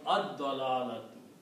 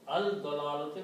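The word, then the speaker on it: الضلالة: And when you pronounce ad-dalalatu. Okay? Because when al is put, then one dhamma goes away. And also you do not pronounce al-dalalati because dot changes the sound of lam.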